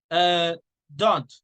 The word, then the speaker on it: don't: Don't. How do you say do not? Don't. In this case, don't, you don't say the T.